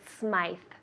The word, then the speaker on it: Smythe: in Toronto Canada right Smythe Street some people pronounce it Smith and some people pronounce it Smythe the most important thing